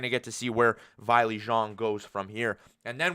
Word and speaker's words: Weili Zhang: versus Weili Zhang is actually how you pronounce her name.